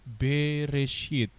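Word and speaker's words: בראשית: Ya, jadi ketika dibaca dia membaca menjadi B E R E S H I Y T menjadi Bereshit. Jadi cara bacanya seperti yang saya beri tanda emas.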